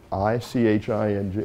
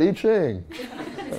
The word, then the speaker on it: I Ching: I-C-H-I-N-G. Am I badly pronouncing it?